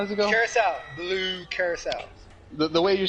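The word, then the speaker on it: Curaçao: Carousel. Blue carousel. The way you're supposed to emphasize it, though. Curacao.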